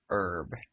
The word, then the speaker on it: herb: then, the word is herb. H-E-R-W. H-E-R-B. But the H is silent.